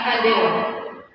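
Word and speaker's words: candela: Cara tulisnya itu pakai C, bacanya kandela.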